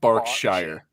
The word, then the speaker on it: Berkshire: Yeah, it's spelled Berkshire, but it's pronounced Berkshire.